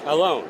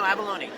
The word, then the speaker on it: Avallone: Alone, okay. No, Avallone. You got it right the first It was Avallone? That is the Italian pronunciation. Okay. I blame Sylvester Stallone for the fact that everyone pronounces my name wrong, because he let them pronounce his name wrong.